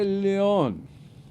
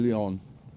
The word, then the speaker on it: Leon: Boogeyman huh okay Rabbi Leon that's actually spelled lion you know that's actually spelled I know it's actually spelled lion but it's this it's the Spanish pronunciation Leon okay I like it